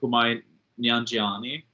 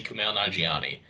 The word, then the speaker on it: Kumail Nanjiani: There's one character I think we kind of overshadowed besides one reference is I hope I say his name right, Kumai Nyanjiani character, or good old magnetic Jedi.